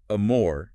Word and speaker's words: amor: So amore meaning love wouldn't need a till day because it ends in r even though the stress is on more.